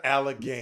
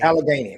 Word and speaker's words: Allegheny: I need you to pronounce it one more time. How do I say it again? Greater Allegheny. Allegheny. Okay, got it. Penn State, Greater Allegheny.